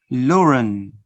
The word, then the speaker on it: Law and: Notice the sound that I'm going to insert to connect the two first words. Law and becomes Lauren.